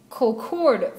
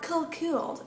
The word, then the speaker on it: Colquhoun: Yes, Colquhoun Farm is in Paris, Kentucky, outside of Lexington. No, you were pronouncing it wrong. It's pronounced Colquhoun, not Colquhoun. It's French, so you pronounce it with a French accent.